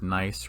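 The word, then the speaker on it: gneiss: billion years old nice this word nice right here it's not spelled n-i-c-e like a nice person it's spelled g-n-e-i-s-s is a german word and it refers to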